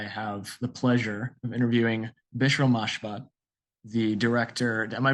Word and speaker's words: Bishrel Mashbat: This is from FilmSnobReviews, and today I have the pleasure of interviewing Bishrel Mashbat, the director. Am I pronouncing your name correctly?